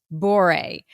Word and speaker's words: Bourey: So for all of these reasons, I am so delighted to introduce you to Grace Bourey. Grace, am I pronouncing your name correctly?